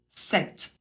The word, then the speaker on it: cette: en a qu'un seul qu'on prononce 7 exactement le même que pour le masculin sauf qu'il s'écrit différemment il y a de T et un e à la fin mais la prononciation est la même avec celui-là il n'y